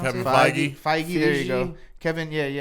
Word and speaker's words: Feige: So now I did see earlier, Kevin Feige, is that how you pronounce Kevin it? Feige. Feige, there you go.